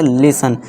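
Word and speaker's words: listen: लिसन। टी को silent कर देंगे। इस तरह से क्या पढ़ेंगे? कर्सल। ठीक है दोस्तों? कर्सल। टी के बाद एल इ है। एल इ एल इ को साइलेंट कर दिया।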